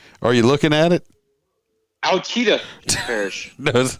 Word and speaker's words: Ouachita: Anyway, while we're making fun of it, is Ouachita is spelled Ouachita. Ouachita Parish. So it's not Ochita.